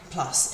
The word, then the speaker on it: plus: If the next word starts with a vowel, we pronounce the S, but it kind of almost sounds like a Z sound.